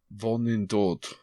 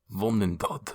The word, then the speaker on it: Vonindod: Vonindod. Vonindod.